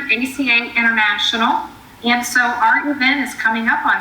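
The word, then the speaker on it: Eau: and that's a part of ACA International. And so our event is coming up on September 23rd at the O, and it's pronounced O, but it's spelled E-A-U, O Palm Beach.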